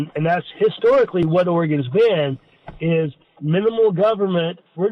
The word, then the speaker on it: Oregon: native now my wife she grew up in Oregon right here in Newport on the coast and when she tells me I'm not supposed to pronounce it Oregon it's Oregon can you convert that's great okay all right